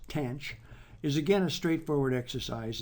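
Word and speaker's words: tanh: minus X the derivative of the hyperbolic tangent pronounced tan CH is again a straightforward exercise and differentiation using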